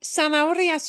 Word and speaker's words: zanahorias: This should sound like an S, yeah. And we so desperately want to pronounce that as za. So no buzz. Zanahorias. And then we've got that nasty in the middle, and it's hard to ignore an H.